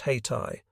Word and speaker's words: Haiti: fought in places like Haiti which they pronounced hati Nicaragua and San Domingo